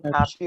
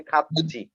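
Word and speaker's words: 같이: এটার উচ্চারণ খাতি হবে না, উচ্চারণ হবে খাচ্ছি। এটার উচ্চারণ খাতি হবে না, উচ্চারণ হবে কি খাচ্ছি।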